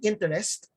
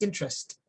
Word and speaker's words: interest: Instead of saying interest, native speakers will say interest. Interest. Notice the letter E after T disappears.